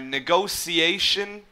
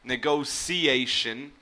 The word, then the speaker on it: negotiation: most commonly hear are negotiation So with like a C or an S sound in the middle, negotiation. Or you would hear it with like an SH sound, negotiation.